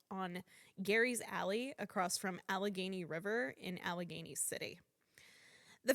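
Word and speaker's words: Allegheny: I don't think that's how that's pronounced. We say this. How do I say this? Alagany. Alagany. Alagany River. You couldn't pronounce AlaGany?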